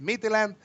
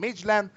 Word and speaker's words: Midtjylland: I like to say it Midtjylland, but some of the people are saying Midtjylland against the Rangers.